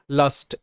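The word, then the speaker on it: last: So first শব্দ রয়েছে লাস্ট, এল এ এস টি, লাস্ট, লাস্ট, এলতে ল এতে আ, এসটি শয়টা, লাস্ট। তো এখানে কিন্তু এ এর পর এসটি রয়েছে, তাই এ আকার হিসেবে উচ্চারিত, এর অর্থ শেষ।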